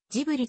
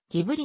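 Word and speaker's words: Ghibli: あるカプローニ新鋭 309 ジブリ宮崎駿の思い込みからジブリとなったがギブリの方が言語日開発音であるイタリアのマセラーティ者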